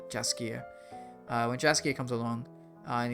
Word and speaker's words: Jaskier: And there's also Dandelion, also known as Javier. Oh, sorry, not Javier. Jaskier, sorry.